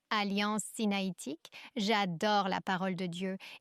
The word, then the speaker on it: sinaïtique: Alliance sinaïtique, c'est bien ainsi qu'on le prononce. Alliance sinaïtique.